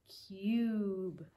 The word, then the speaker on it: cube: them in this case our magic e is telling that u to say his name cube cube good job okay